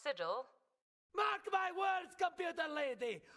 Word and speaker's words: sigil: Those days back when my bear was more than just a sickle on my shield. It's pronounced sigil.